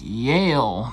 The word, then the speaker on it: Yale: This is the Google Nest Yale door lock. How is it pronounced?